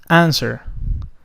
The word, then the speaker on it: answer: The next one, answer. Answer. Notice here that W is not pronounced.